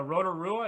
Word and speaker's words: Rotorua: saying this correct but is it the rotorua is how you say it or no that's great yeah normally uh normally yeah people get there a little bit wrong but now that was perfect okay so so sounds like